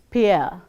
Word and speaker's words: Pierre: The next one is Pierre, which is pronounced as Pierre, as in we say deer.